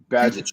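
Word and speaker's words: Bagent: Tyson how do you say last name Mike badget badget tyon badget wasn't even he was a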